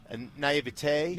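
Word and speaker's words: naïveté: Naivete.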